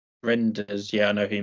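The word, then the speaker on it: Reijnders: Reinders? How do you pronounce it? Renders, yeah, I know who you mean.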